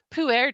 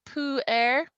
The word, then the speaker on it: Pu'er: This is Pu'er tea, and what it is it's called Pu'er.